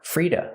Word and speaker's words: free to: We hear to pronounced as duh, Frida, Frida. Because the T is between vowels, it changes to a fast D. And the vowel is relaxed.